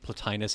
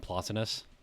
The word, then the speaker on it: Plotinus: Yeah, I've heard it I've heard it said as both Plutinus and Plotinus. I don't think it matters too much.